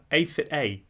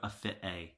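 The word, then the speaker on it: AFitA: Aphita, surely. I mean, it is literally capital A, then the word fit, then a capital A.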